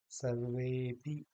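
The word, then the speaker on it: सर्वेऽपि: जैसे यहाँ पर आया है, तो हम इसको अ नहीं बोलेंगे, बल्कि इसको कहेंगे सर्वेपि, या कोऽर्थः, ना कि को अर्थः, ये नहीं कहेंगे, बल्कि कहेंगे कोऽर्थः।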